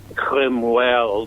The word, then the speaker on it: Cromwell: it's all about Thomas Cromwell pronounced crumb by his strains and cream well by the ambassadors to the court they can't quite get their words of crumble particularly correct and so